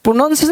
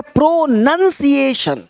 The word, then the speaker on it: pronunciation: प्रोनाउंसिएशन नहीं, एक है प्रोनंसिएशन।